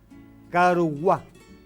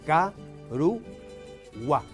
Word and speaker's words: Caruguá: Silabeado es ca-ru-gua. La sílaba que tiene la vocal tónica es gua y por ser final lleva acento prosódico.